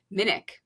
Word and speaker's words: Minich: Is it Dr. Minich or Dr. Minich? Minich. You've got it. Okay, I said it wrong. Yeah, it's like Munich.